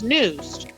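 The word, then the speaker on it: N'Used: one of my words it's news like news new it's like new and use combined like yes one of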